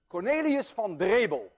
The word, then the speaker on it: Cornelis van Drebbel: Cornelius van Drebel, and I know how to pronounce that name because I'm Dutch.